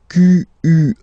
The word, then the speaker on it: quelle: And then the feminine form is written like that, Q-U-E-L-L-E, but it's pronounced like the masculine form.